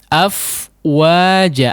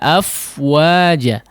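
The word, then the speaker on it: أفواجا: dalam pengucapan afwaja disini jangan seperti diputuskan ya afwaja afwaja af mati woi ndak baru ke Wow tidak ya dilangsungkan saja afwaja afwaja ya tidak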